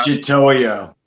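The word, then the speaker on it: Mitutoyo: Michitoyo.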